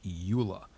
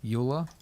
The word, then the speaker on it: Euler: is underneath utilities and we're looking for rotate Euler is that how you pronounce that word Euler is how we pronounce it now come on